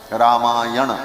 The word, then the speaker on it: रामायण: अब वो व्याकरण के नियम से ना कोड़ा हो जाता है, रामायण ऐसा उच्चारण किया जाता है।